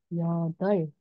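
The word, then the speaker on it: 여덟: kemudian yukdab yukdob yodor Bukan yodok ya. Yodol. Jadi kalau real sama be ketika bacinnya ada dua maka yang dibaca itu e real-nya ya. Jadi yodol gitu cara bacanya.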